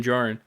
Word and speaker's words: Djarin: The armorer asks Mando, Din Djarin, the D is silent.